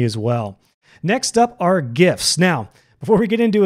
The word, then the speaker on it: GIF: well next up are gifts now before we get into a gift I do want to mention it is pronounced gif not jiff jiff is a peanut butter it stands for graphics